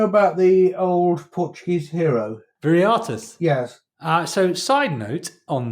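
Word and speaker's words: Viriathus: So, side note on this Viriatus, the people of the town from which Viriatus originated apparently pronounce all V's as B's or the other way around, as sort of homage to their man Viriatus. So he was Bariatus.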